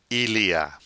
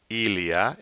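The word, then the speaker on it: il y a: a fixed phrase iliya sounds as one word Illya Illya it means there is or there are its root is from the verb avoir we won't get into it here other than to know it's three separate words or letters E E and AH iliya there is or there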